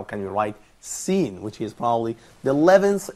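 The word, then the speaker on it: س: how can we write Sin, which is probably the 11th alphabet in Arabic, which is Sin. And as it says here in the slides, Sin pronounced like Sin, the word Sin in English.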